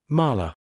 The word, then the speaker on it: Mala: Mala. 2 syllables, almost weightless.